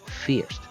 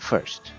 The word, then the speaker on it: First: mean I mean Fier it's pronounced Fierce not first even though it's spelled